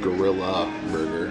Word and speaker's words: Grill A Burger: It's pronounced Gorilla Burger.